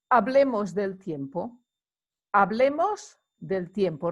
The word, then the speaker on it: hablemos: the pointer on here remember the h is not pronounced in spanish so hablemos del tiempo el tiempo